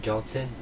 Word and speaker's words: Gyaltsen: Tell me how to pronounce that right. Gyaltsen.